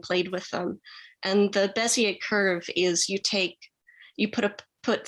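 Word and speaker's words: Bézier: And the word bezel curve, is that how you said it? Bezier curve.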